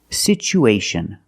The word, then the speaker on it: situation: We see the t as a second syllable with tua. So we pronounce it with the ch sound. It's pronounced situ. Situation. One situation or two situations. So the second syllable is the long uh like boot and moon.